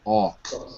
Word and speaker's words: awkward: The W is pronounced like a U, so aw, You. as if Awkward. it's AUK, awk, awk.